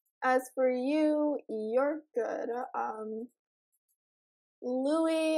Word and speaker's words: Louis: Louis Tomlinson. The S is silent. So I've heard.